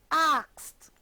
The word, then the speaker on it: asked: This is the word asked. has the t sound at the end.